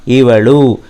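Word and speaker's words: ಇವಳು: ला का उच्चारण कीजिए, इवळु।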